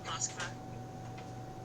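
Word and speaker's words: Москва: Okay, so he's in Moscow. Moskva. Moscow? Is that how it's said? In Russian, yes.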